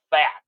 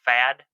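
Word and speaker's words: Pfaadt: it, rookie right-hander Brandon Fat. We're going to call him Fat because it's spelled P-F-A-A-D-T. I'm assuming the P is silent, so we're going to say Fat, something like that.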